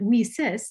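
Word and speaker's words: WiCyS: acronym whisis w-i-c-y-s and we pronounce it we sis like we sisters because that's exactly what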